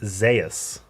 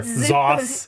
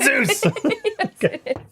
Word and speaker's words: Zeus: top laner is uh his name is spelled Zeus like the god of thunder right the sky yeah okay but it's pronounced Zas so I'm an expert on weird Zeus Zas zus whatever zos it's not Zeus I'm